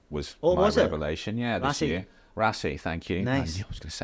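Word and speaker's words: Raasay: Rassai, thank you. Nice. I was going to say that wrong. Scottish here, pronunciations.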